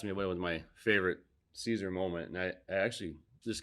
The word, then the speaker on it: Siser: i kept on seeing sizer sizer and kathleen was with and finally kathleen looking at me she goes it's caesar she goes say it right or don't say it at all so that was like